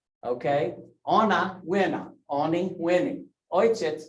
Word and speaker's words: Ojciec: Ojciec, it's wojciec. I may not have spelled it right, but that's how you say it, okay?